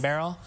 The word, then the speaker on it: Beryl: It's Hurricane Beryl. That's it right here. And you think of like a barrel. That's how you say it, yes. Hurricane Beryl.